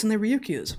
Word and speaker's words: Ryukyu: These are found off of the, I think it's pronounced Ryukyu Islands in Japan, between just north of Taiwan.